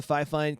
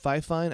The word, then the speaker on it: Fifine: the fifein k658 um i'm gonna go with fifine i've watched about five different youtube videos trying to figure out how to pronounce this company's name and uh that's kind of the general consensus i heard a few other names but that's we're going to go with this is the fifein